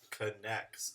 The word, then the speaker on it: Connex: It is Connex, as in like you are going to connect or connects you to HD.